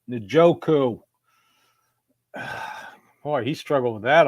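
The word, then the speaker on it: Njoku: David and joku and let me remind Al Michaels it's pronounced nooku boy he struggled with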